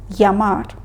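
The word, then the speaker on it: llamar: або допліелі подвійна і так як ми з вами вчимо класичну іспанську кастильський варіант то в цьому випадку ми її вимовляємо як й звук ямар проте якщо ви в Латинській Америці або чуєте спікерів з латинської америки вони можуть вимовляти цю літеру як ж або ж Але повторюю у класичному варіанті ми її вимовляємо як й ямар далі літера ими вимовляється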